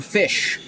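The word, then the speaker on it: Ghoti: Those who do not know, I am Fish. G-H-O-T-I, Fish.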